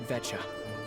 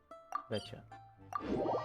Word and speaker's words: Veta: Time to get ready, then head to the Sneesrad Veta." Veta. Okay, I mispronounced it horribly when I said it. Betcha.